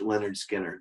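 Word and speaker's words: Lynyrd Skynyrd: by ray charles and pronounced leonard skinner by leonard skinner you had to put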